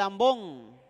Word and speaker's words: ambón: vamos bien okay el ambón sí ambón ambón a m b de burro o de oreja y n de nana ambón Sí con acento en la O ambón sí vamos bien